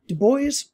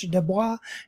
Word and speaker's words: Du Bois: of them being w-e-d-w-e-b du bois and it's not pronounced in the french dubois uh it's pronounced du bois and you did that